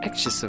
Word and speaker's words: axis: 란 바람도 섞어 썼는데 정확한 발음으로 확인을 하면 xs 엑세스 액시스 가 되겠습니다 그래서 엑시스 세컨드 2nd